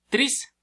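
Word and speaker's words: τρεῖς: La E, la epsilon y la y forman un diptongo que pasa como I. Entonces se escribe treis, pero se pasa al español como tris y significa tres o triple.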